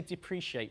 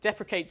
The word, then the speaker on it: deprecated: combined into one term deprecated term i pronounced it correctly I say depreciate for some reason deprecated term basically is a